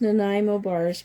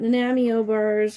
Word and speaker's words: Nanaimo bars: bars i love nanowires and it is pronounced nanaimo bars because it's uh they're from nanaimo bc canada british condo canada so um it's not namio bars or anything like that it's menaimo bars and